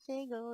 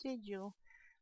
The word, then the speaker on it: sigil: it looks like sigle I know it's sigil don't think I'm stupid and don't remark and say it's not single it's sigil I do know the